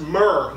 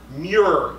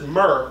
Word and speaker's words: murre: And it's pronounced murre, not Muir, as in John Muir.